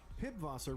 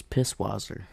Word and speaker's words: Pisswasser: Pibwasser returns too, but in the new 9 You're saying it wrong. It's Pisswasser. alcohol-free variant.